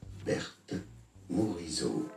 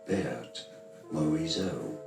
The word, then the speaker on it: Berthe Morisot: In French it is said as Berthe Morisot. Berthe Morisot. So in English it'd be fine to say it as Berthe Morisot.